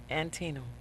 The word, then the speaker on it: Antietam: Antietam. Okay. That's good, because I always wonder how to pronounce the street name there, as we have